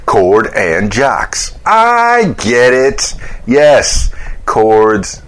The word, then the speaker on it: Chord and Jocks: It rhymes. You know, you got his name, Jordan Cox. Then you do the C and the J, and you kind of reverse them a little bit. Chord and Jocks.